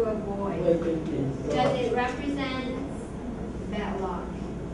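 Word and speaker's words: 禄: It's similar pronunciation was this one. What's the meaning of this one? Lu is official salary in feudal society.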